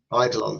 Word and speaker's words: Eidolon: It's Eidolone. Eolone. Idolon. So, it's like an idol.